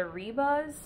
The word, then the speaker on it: Ribas: I always, you know, I've heard people say her last name with like an H. I don't know if like, I think in Brazil, right, they don't pronounce the R, they pronounce it as an H.